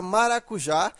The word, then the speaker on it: maracujá: saber que a palavra maracujá, ela deve ser acentuada. Agora, por que ela é acentuada? Porque ela é uma oxítona. Veja que a sílaba tônica é a última.